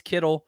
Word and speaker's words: Kittle: ends that's Ted qualic I'm pretty sure I pronounced that wrong for me it's Kittle uh I think he's the